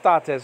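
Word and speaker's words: τότε: a whole bunch of tates over here in chapter 24. Tate spelled out T-O-T-E, or tau, nowadays called tough. Omicron, nowadays called omicron. Tau, epsilon, the acute marker is on the first syllable.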